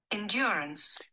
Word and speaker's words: endurance: Não se pronuncia o último e. Então como é que fica? Vamos ver como é que fica. Endurance. Endure. Assento na o controlador, o piloto. Assento na segunda sílaba.